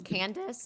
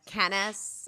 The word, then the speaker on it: Candace: pronounce things correctly like my name is candace and she says canis and everything is like